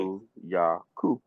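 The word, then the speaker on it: Kulu-Ya-Ku: Next, the Kulu Yaku. Am I right? Am I getting it right? The syllables are right? Kulu Yaku.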